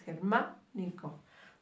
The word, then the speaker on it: germánico: Cuando termine en ico se vuelve una palabra esdrújula.